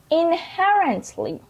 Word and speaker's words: inherently: Inherently. The word inherently and the stress is on it.